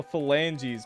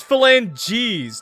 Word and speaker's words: phalanges: It's phalanges. No one wrote a J, bro. Phalanges. Phalanges. Motherfuckers, you guys out here writing geese. Phalanges. Phalanges. Wait, no, wait. I was saying it like that, though. Phalanges. Phalanges. Phalanges. It's literally G's. There's no J. She's...